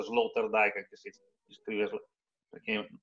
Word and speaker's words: Sloterdijk: Si pronuncia Sloterdijk anche se si scrive, perché non è un tedesco, non di origine tedesca.